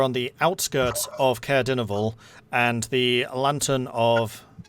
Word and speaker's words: Dineval: then we left to go to I can't pronounce the word. Dinnable? Dineval, yeah.